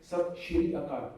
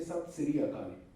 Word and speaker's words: Sat Sri Akal: But have you ever heard a Punjabi saying Sat Shri Akal? No, we say Sat Sri Akal. In daily communication, we don't use sh or z. It is either s or j.